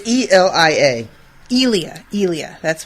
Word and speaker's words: Elia: trying to find it i can't remember how it's spelled it's e-l-i-a elia elia that's right yeah okay uh from